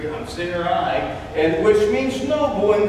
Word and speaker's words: Sarai: Her name at first was called Sarai. And so if you look that up, that's how it's pronounced. I looked it up 3 times. Sarai, and which means noble and good.